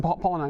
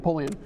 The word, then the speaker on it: Polian: It was more because it was Bill who said Pauline, right? Is that how you say it? Who? Bill Polian. Polian.